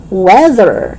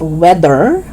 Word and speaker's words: weather: Weather is not weather. Okay, weather.